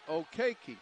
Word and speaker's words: Okwukei: an athlete about six foot five and we pronounce it okay key right okay Keith okay yep so KK Tong